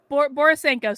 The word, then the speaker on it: Borisenko: Borisenko. Is it pronounced Borisenko? What are you saying? Yeah. Borisenko. So you got it perfectly.